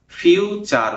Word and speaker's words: future: FUTURE, এটাকে আমরা ফিউচার বলবো। তাহলে TURE এটার উচ্চারণ হবে চার। ঠিক আছে, আর FIU তাহলে হলো ফিউচার।